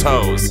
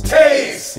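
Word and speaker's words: Toews: about the evolution of Jonathan toes Taves yeah I know it's Taves he's like a perennial Superstar but like look at the way it's spelled we love the Hawks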